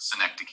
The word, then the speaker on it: synecdoche: so that's apostrophe synecdoche uh not synecdoche or however i've heard this pronounced a lot of different ways but synecdoche is the correct pronunciation that's a little tough